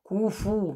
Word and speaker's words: كفوا: كفوا. Make sure you pronounce the فو.